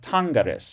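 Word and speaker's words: tangeris: In the second singular, okay, we have tangaris. It switches to a short e before the personal ending. But notice it's a short e rather than a long e.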